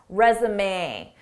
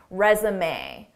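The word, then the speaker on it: résumé: Notice how the end is pronounced, resume. This isn't typical English pronunciation because this word is borrowed from French pronunciation, resume.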